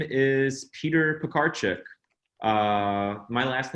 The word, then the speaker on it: Piekarczyk: My name is Peter Piekarczyk. My last name is pronounced Piekarczyk. It's pies, cars, and chicks, right?